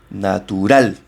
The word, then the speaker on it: natural: La acentuación va en la última sílaba. Fijaos cómo la decís. Natural. La última, donde doy el golpe de voz.